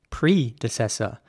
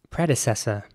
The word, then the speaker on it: predecessor: is spelled p-r-e-d-e-c-e-s-o-r and in British English once again it would be pronounced predecessor predecessor as opposed to the American way which would be predecessor so the e at